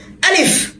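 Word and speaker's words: ألف: নিচের ঠোঁট শক্ত করে কামড় দিয়ে ধরতে হবে, ঠোঁটটা ভিতরের দিকে চলে যাবে। আলিফ। যাদের ঠোঁট ভিতরে যাবে না, তারা হাত দিয়ে ভিতরের দিকে আটকে দিতে পারেন। আলিফ আলিফ।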